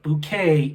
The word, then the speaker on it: Bucket: Now, be sure you spell that correct. It's B-U-C-K-E-T. And Hardfall is just spelled how Hardfall is always spelled. But Bouquet is B-U-C-K-E-T.